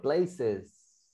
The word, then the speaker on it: places: Mira, aquí solo te faltó pronunciarlo en plural. Places, la S nomás te faltó pronunciar. A ver, practícalo. Places.